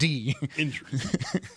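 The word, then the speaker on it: Endries: Yeah, not INJ. It is END. Indris.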